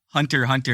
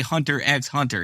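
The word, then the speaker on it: Hunter × Hunter: the hunter hunter anime not a single one actually pronounces the X in the title so if the X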